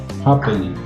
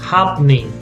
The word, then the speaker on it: happening: Happening. 2 syllables. Happening.